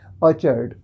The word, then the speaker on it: orchard: इसमें आर को थोड़ा आप साइलेंट करेंगे, ऑर्चार्ड, ऑर्चार्ड। ओके, तो ऑर्चार्ड मीन्स भी बगीचा और गार्डन मीन्स भी बगीचा।